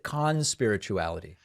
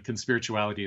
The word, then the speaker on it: Conspirituality: also co-host of the conspirituality podcast is that the way you say it or is it Khan's spirituality we usually de-emphasize the first syllable but we can talk about why um I mean conspirituality is good so let